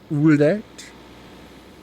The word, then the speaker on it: Újrét: It seems to be pronounced Újrét.